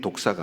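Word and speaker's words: δόξα: 영광이라는 단어는 독사는 말입니다 뱀 독사가 아니고요 발음이 독사 독사 그리고 또 많이 나오는게 독사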